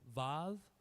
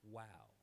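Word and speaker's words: וָו: Then we have vav. It's vav in modern Hebrew, but in biblical Hebrew it's pronounced wow.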